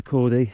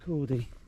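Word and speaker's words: Corn Du: I've just been up there, and this is Cordy, or Cordu, I think they pronounce it Cordy.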